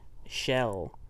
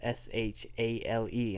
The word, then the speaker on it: shale: That's before it, you said shell, even though it's spelled S-H-A-L-E, and so I was like, no, that's shale.